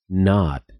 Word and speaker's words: knot: Y es que cuando encuentras una palabra que comienza con KN en inglés, como knight, caballero o knee, rodilla, la K se vuelve muda y no se pronuncia en absoluto.